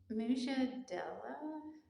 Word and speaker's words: Mujadilah: The Arabic word that it used or term was translated into dispute, and it's pronounced, I looked it up, Mujadilah.